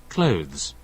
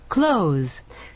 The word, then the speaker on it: clothes: by the way so take a look at the way you pronounce this this is very important like british english clothes and american english clothes you see clothes so